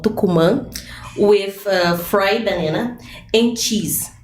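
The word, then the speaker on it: tucumã: And the tukuma is not it's between you know it's like a citric thing.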